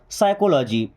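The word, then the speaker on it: psychology: spelling लिखिए है किसकी साइकोलॉजी अब साइकोलॉजी किसको पता कि पी से शुरू होता है जब तक हम पढ़ेंगे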